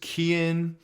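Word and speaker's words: Keoghan: barry keagan now first some people pronounce his name is kian i don't i'm not quite sure the way it's spelt to me i'm gonna pronounce it for the meantime is key again and correct me if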